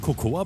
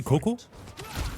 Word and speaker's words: cocoa: Is just letting me know that you don't pronounce the A in the English word. Like, it's written cocoa, but you just say Coco.